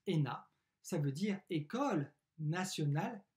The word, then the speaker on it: ENA: de paris lena l'ena eux n a qu on prononce ena ça veut dire école